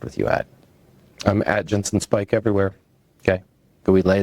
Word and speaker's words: Ginson Speich: I'm at Jensen Spike everywhere.